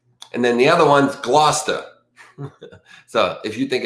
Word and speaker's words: Gloucester: Like if you think it's Gloucester, type GLOO-CHESTER, whatever. You know what I mean? That's not how you say it, by the way.